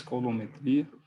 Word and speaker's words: coulometria: Se for pronunciar melhor, em português, coulometria, e essa técnica, ela mede, então, o SOx, né?